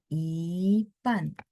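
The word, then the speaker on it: 一半: Nah, Ipan. Ini separuh. Ipan. Pan ada 4. Jadi I-nya ikut berubah jadi nada 2 ya.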